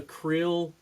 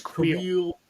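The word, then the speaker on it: Kuiil: I like the Krill. Did I say his name right? Because I always feel like Queel? Yeah, I always stumble on that one. I think it's Queel.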